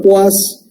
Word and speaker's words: poise: Se pronuncia poise y se escribe poise.